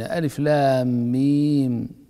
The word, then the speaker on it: الم: تكتب ألف لام ميم، لكن نطقك بألف لام ميم هو ذكرك أو نطقك باسم كل حرف، فالحرف الأول اسمه ألف، والحرف الثاني اسمه لام، والثالث اسمه ميم، بينما عند نطقك بألم ترى أنك لا تنطق بأسماء الحروف إنما تنطق بالحروف ذاتها فتقول ألم ترى.